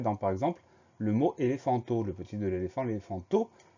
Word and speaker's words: éléphant: Le son F, on va l'écrire PH. C'est la grosse particularité de ce mot-là.